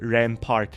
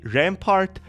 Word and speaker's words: Rampart: best he told me Rampart rhymes with fart I'm going to for